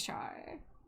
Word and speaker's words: char: and I say char and they're like, "Huh?" Like, is it It's one syllable. It's four letters.